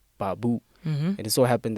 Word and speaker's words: babu: So it just has two syllables, ba, which is a and u. So babu.